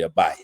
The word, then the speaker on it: Abijah: It's spelled Abijah, but it's really Abiah.